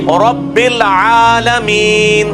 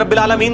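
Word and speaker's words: رَبِّ الْعَالَمِينَ: रबिल आलमीन रबिल आलमीन अब ये आ जो है ये लंबा है ये अल्हम्दुलिल्लाह रब्बुल आलमीन नहीं है रब्बुल आलमीन ऐन अलिफ ज़बर आ ये जो है वो ज़बर खड़ी ज़बर है एक अलिफ के बराबर खींची जाएगी इस तरीके से मीम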